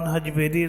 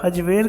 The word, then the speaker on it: حجویر: پیدائش حجویر بتایا ہے۔ حجویر کا تلفظ عام طور پر زبر کے ساتھ کیا جاتا ہے جبکہ اسے پیش کے ساتھ بھی لکھا جاتا ہے۔ آپ کے سن ولادت